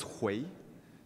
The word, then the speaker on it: Hui: The pronunciation is Hui. It's a triphthong, I think.